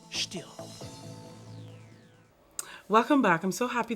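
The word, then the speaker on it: Stihl: Oh, and by the way, it's pronounced still.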